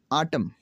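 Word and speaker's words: autumn: है वो ये है, अगर किसी लफ्ज़ में एम के बाद एन आता है तो एन हमेशा साइलेंट हो जाता है। कैसे साइलेंट होता है? चले मैं इसकी वजाहत करता हूँ। आटम, आटम में देखें एन साइलेंट।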